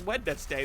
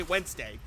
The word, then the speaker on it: Wednesday: it and go oh cuz nobody says wedness day they say Wednesday I mean I have